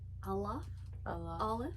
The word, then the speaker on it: Aleph: So how do you say the first letter? Like, what is it? It's Aleph.